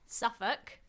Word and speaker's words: Suffolk: Bob, where the hell is SuffK? Anna, Suffukk, the one. Um, okay. To be fair, it's spelled Suffolk.